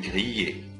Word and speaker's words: grillées: في حاجه كمان في اللغه الفرنسيه بتنطق اي اللي هي جي ان زي مونتانيا، بس دي بنضغط شويه على الحرف فبنقول جرييه زي كلمه فيه فبنضغط griller des biscottes, de